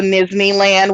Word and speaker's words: Nizzneyland: matter matters um also nizhny land which is n-i-z-z-n-e-y-l-a-n-d kind of rhymes with disneyland because that's like encompasses